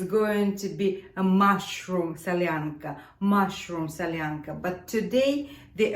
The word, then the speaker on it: Solyanka: we will be making Sasha's favorite soup let's pronounce the name of this soup salyanca salyanca salyanca there are a few types of salanka few